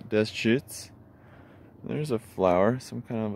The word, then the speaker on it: Deschutes: posting it this is the Deschutes River Dez cheats think French when you pronounce it French for Trappers Deschutes there's a flower some